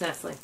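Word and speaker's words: Nestlé: How do you pronounce that? Nestle. That's always bugged me. It's Nestle.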